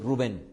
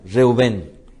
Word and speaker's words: Reuben: correcta pronuncian conmigo reuben no sería como al español Rubén sino sería reubén y al hebreo se escribiría con la letra resh va bett otra vez resh Álex por eso es que la va ahí sonaría como u y la pronunciación Entonces sería reuben Rubén aparece a lo largo